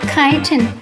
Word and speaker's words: chitin: Although the squids lack exterior shells, they have a vestigial shell inside, made of chitin, which is spelled chitin.